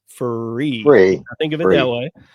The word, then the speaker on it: FURE: So, it looks like fure, but it's free.